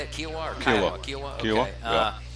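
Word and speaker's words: Kiawah: Kiowa or Kiowa?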